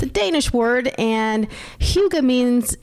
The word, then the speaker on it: Hygge: But it's pronounced Hygge. Kind of like We'll go with Hugo, but Hygge.